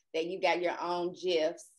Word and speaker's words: GIF: I saw on Twitter that you got your own GIFs. I pronounce it with a hard G, but apparently you pronounce it with a J.